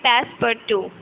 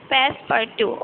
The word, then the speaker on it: Passepartout: Okay, so Passepartout is a French word, and it is pronounced like Passepartout. Passepartout.